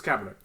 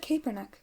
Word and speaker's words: Kaepernick: It's Kaepernick. Like it's spelled with a K, but it's pronounced with a C. So it's Kaepernick. Because I've always said Kaepernick.